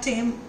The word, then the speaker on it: thyme: आणि याच्यामध्ये जे हर्ब्स लागतात ज्याचा हा सगळा स्वाद येतो, ते म्हणजे फ्रेश ओरेगानो आहे, THYME थाईम ह्याचं जरी स्पेलिंग असलं तरी ह्याचा उच्चार टेम असा केला जातो आणि थोडासा शेपू.